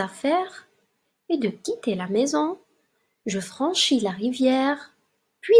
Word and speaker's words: mes: On a mais, ça s'écrit M-E-S, ça se prononce mais.